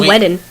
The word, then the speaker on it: Whedon: Is it Whedon or Whedon? Whedon. Whedon? Whedon. Has he said people this is how you pronounce my name?